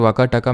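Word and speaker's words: वाकाटक: तरह से indirect control वकाटका में किसका चला गया वैसे इसको वकाटक प्रोनाउंस करते हैं ठीक है वकाटका तो मैंस प्यार से बोल देता हूं ठीक है तो गुप्ता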